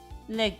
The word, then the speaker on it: legge: Legge. Legge. Legge. Legge. I need to remember that double G pronunciation because I've been screwing it.